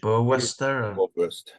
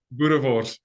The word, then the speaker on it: boerewors: What's the sausage? Boerwurster? What's it called? Boerewors. Boerewors. Okay, boerewors. It's a sausage.